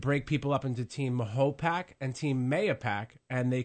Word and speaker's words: Mahopac: I'm concerned, either way, if you want to refer to it as Mahopac, that's the proper way. But, you know, those who want to refer to it as MAYO-PAC, I graduated from MAYO-PAC High School, Mahopac High School. So it really depends on, you know, your origin and how long you've lived here. But either way, to me, is acceptable.